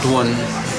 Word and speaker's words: dun: to be such like dun used to be pronounced dwen dun which is dun wen, but it was spelling dun, so it's easy to mispronounce, and sometimes I do myself.